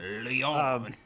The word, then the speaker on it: Lyon: I'm actually happy you even pronounced it correctly. Lyon.